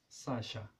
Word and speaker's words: Sacha: le serpent serpiente perfecto on peut combiner aussi la S la h pour avoir le son équivalent à CH français comme par exemple sur le prénom scha Sacha voilà X et elle